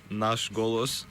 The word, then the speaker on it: Nash Golos: How to pronounce it? It's called Nash Golos.